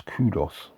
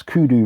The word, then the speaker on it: Kudu: uh kudot Kudo label I thought it was kudos let me just double check if I'm mispronouncing anything no it's kudu records division of creed